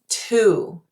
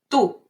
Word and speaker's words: tú: Too many people say it like this, tú. See how my lips are moving? Ooh. No. In Spanish, it's just u. Bien. ¿Y tú? Tú. Not tú. Okay?